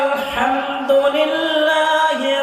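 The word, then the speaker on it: الحمد لله: ওই হায়ের জায়গাতে আমরা হা উচ্চারণ করে আলহামদুলিল্লাহি রাব্বিল আলামিন শুনতে মনে হচ্ছে ভালোই লাগবে, কিন্তু সরাসরি তরজমাটা ভিন্ন হয়ে যাবে।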